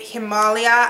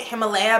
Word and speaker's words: Himalia: This is in the shade Himalia. I know everyone's calling it Himalaya, but this is not how Himalaya is spelled.